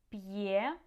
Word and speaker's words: п'є: П'ять, м'ясо, б'ю, п'є, в'язати, м'який. Okay, so try to pronounce these words, and you can hear that the apostrophe helps to keep the sounds separate and clear.